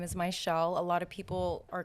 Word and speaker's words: Mizziel: make sense phonetically so i have two z's in my name but it's pronounced like sh so whenever p i